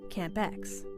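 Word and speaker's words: CAMP2Ex: Monsoon processes Philippines experiment Camp X the two is silent that's just a joke but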